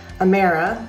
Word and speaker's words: Amira: the highest level possible amira rhymes with sarah you're welcome um is